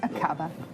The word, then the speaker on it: Aqaba: Is that how you would pronounce it? Yes, Akaba.